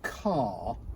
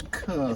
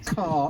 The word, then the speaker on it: Kerr: obviously remind the family, it's Kerr as in star. Don't try this Kerr thing, because you will only incur the wrath of the family then by mispronunciation. Kerr is the pronunciation.